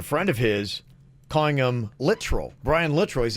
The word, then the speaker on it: Littrell: Somebody said, yeah, you were pronouncing Littrell wrong. It's Littrell, like Littrill. Lit and then trill.